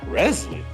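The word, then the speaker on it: Rezlie: Resley. Yeah. Spell that.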